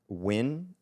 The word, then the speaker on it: Nguyen: Oftentimes, the last name Nguyen or Nguyen. Nguyen, yeah. It's pronounced Win.